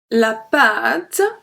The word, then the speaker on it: pâte: So do you remember when we have an accent circumflex, we pronounce it longer. Next Wednesday, the vocabulary lesson will be about word with accent circumflex. So this one, la pâte, longer.